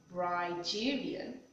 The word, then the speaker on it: Brigerian: on being bride Julian rigerian pronounced ryderian is a word I